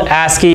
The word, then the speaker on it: ASCII: So this is called ASCII, A-S-C-I-I.